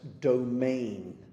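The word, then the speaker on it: demesne: Can you all remember why this word is so important which we pronounce domain?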